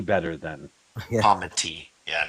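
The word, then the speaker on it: comity: like just to pronounce the T better then comma T. Yeah. Not comma D.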